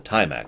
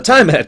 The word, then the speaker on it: Tiamat: called the time Clan yes I am saying that that way on Purpose By the way not the Tiamat Clan this is not the multi-headed dragon the timeat clan and I know it's spelled the same way I don't care so the time hat